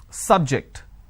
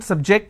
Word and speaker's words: subject: So I say biology is an interesting subject. I'm stressing on the first syllable. Okay. Now, I'm using another example. Please don't subject the students to any tests. So here my stress has moved to the second syllable.